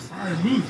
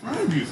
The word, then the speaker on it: Freiermuth: say their own name, he says Pat Freiermuth, the U in there. But the fans say move, Fryer moves, right? So we asked him, we talked to him on Friday, said, how do you say your name properly? He said, Freiermuth.